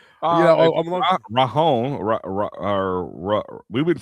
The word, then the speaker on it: Ranger: It's not Ranger. It's like Rahon or Rahar or something like that.